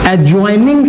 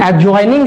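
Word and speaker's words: adjoining: आप मैथ्स में पढ़ते होगे एडजॉइनिंग फिगर्स, ठीक है, this is एडजॉइनिंग figures not एडजॉइनिंग, okay.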